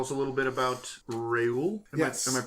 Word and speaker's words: Reuel: Tony, tell us a little bit about Reuel. Yes. Am I pronouncing that right?